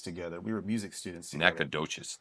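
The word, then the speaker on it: Nacogdoches: we were music students Nacadoches is that the proper way to say it nades NES yeah don't don't call me naked roaches but do call me nades uh he's but he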